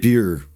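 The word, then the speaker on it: Bure: How are we saying this? It's French. We said it right. Beer.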